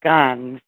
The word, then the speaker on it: Ghan: Um, particularly the race called Gans. It's spelled Ghan.